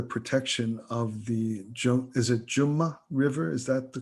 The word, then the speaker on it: Jamna: It's pronounced two ways, Jamna, if you're speaking Hindi in that way, yes, a little more formally. So it's the Ja is the vernacularization of the Sanskrit Ya.